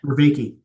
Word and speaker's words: Vervaeke: You also talked about John Verkijk, or I'm not sure how to pronounce it. Yeah, Yeah. Vervaeke.